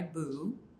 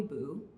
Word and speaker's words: Bue: name is I go by Buu pronounced like buo my pronouns are they them theirs or you can also call me Boo I identify as a